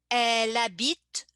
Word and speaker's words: elle habite: So same thing in the pronunciation, I connect the two first words like elle and habite. The E and H being silent. The E at the end of a word in French is never pronounced unless it has an accent.